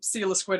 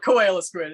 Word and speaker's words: Coelasquid: pronounced it's it's not koala squid it's stila squid i did it too seal of squid but yeah it's uh it's like the fish like coelacanths yeah it comes from